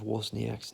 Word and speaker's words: Wozniak: And then, bloody, when we were presenting at the end, she butchered Steve Wozniak's name. I'm like, it's Wozniak.